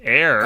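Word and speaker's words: Heir: I hope so because it's air oh it is h-e-i-r to the Empire by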